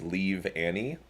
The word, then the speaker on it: Leavanny: sake of the Pun It's leave Annie like like a leaf it's spelled the same but I can stop